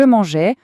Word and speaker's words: mangeais: Par contre, quand on parle au passé, à l'imparfait et qu'on dit je mangeais, le son e est un e ouvert. Pensez au mot mère.